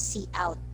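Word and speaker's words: cout: the next one is c out pronounce c out normally computer screen back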